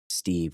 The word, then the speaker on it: Psteve: know our beloved wolf, Psteve with a silent P, was not prepared for.